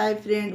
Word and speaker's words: half: उसी तरह से CALF, काफ, इसे काफ पढ़ा जाता है फ्रेंड। उसी तरह से इसे हाफ पढ़ा जाता है। ये एफ से पहले एल है तो ये यहाँ पर साइलेंट रहेगा।